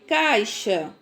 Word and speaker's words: caixa: Essas palavras não são escritas com CH. Elas têm o som do CH, tá certo? Então, quando eu leio caixa, peixe, xarope, enxada, estão ouvindo a pronúncia?